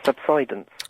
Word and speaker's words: subsidence: Um, by the way, my dictionary uh says that the pronunciation is subsidance.